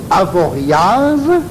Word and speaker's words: Avoriaz: Donc, le touriste prononce Avoriaz, Chamonix, Val Thorens et Dunkerque. Alors que le Savoyard dit Avoria, Chamonix, Val Thorens et Cherbourg.